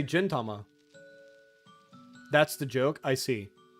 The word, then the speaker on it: Gintama: crisis of conscience Gintama instead of jintama I'm pronouncing it gin like the drink like tonic engine or gin and tonic also if